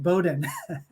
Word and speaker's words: Bowdoin: here it's a really tricky one but it's pronounced Bowdoin uh we should I should have warned you